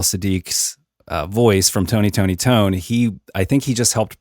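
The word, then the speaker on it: Toné: It is Tony Tony Tony, not Tony Tony Tone. There is an accent mark over that last E that says you pronounce that as a hard E. It is Tony Tony Tone.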